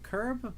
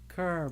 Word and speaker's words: Kerr: Maybe the curb black hole. It's Kerr black hole.